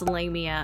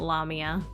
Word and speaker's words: Lamia: pretty shook when I heard her name officially pronounced lamea and not lamia I still love her